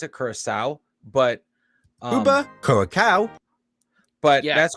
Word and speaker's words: Curaçao: state technically made up of 4 countries: Aruba, Curaçao, Sint Maarten, and the Netherlands.